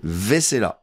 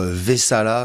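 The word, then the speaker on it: Vaisala: tout de suite et il s'appelle Vesela ah c'est plutôt vesala vzala vzala voilà vesala c'est le code c'est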